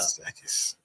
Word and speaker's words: Matsakis: Matsakis.